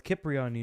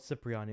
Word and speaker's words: Cipriani: Oh, it's Cipriani, not Cipriani.